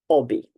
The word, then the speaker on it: hobby: in the past um in Italian we do not pronounce the h AA the beginning of words uh so we would pronoun or an Italian would pronounce it Obi H or otherwise we